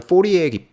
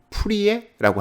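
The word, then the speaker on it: Fourier: 그게 영어권에서는 포리에 변환이라고 하고 아마 한국에서는 푸리에라고 할 거예요. 이제 제 기억으로는 프랑스 사람 이름이었기 때문에 그 발음 그대로 따서 푸리에 기법.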